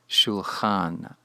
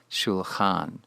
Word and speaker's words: shulchan: The construct form is nearly the same, although the last vowel has weakened from a kametz to a patach, pronounced shulchan, shulchan.